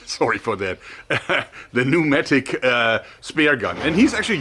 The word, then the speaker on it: pneumatic: The Cressy Sub SL Star pneumatic, was it pneumatic? I think the P is silent, sorry for that. The pneumatic spear gun.